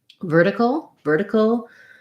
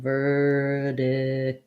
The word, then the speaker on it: vertical: Vertical has first syllable stress. It has the sound, because we're going from vowel to vowel and the T doesn't start a stressed syllable, it's going to be more of a flap. So that's going to sound more like vertical.